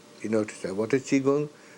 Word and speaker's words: Qigong: Chinese Qigong, that's the right pronunciation, Qigong, which is pronounced Qigong, is an ancient science of, on the one hand, exercise, Tai Chi.